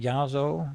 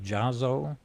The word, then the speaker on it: Yasso: in and they were they spelled it with a J but they were pronouncing it yazo instead of jazo and so they wrote